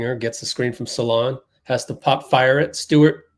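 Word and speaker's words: Salaün: I just learned that it's pronounced Salon. Oh, turnover.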